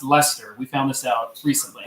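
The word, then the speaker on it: Leicester: we've all been pronouncing Lyster it's actually pronounced Lester we found this out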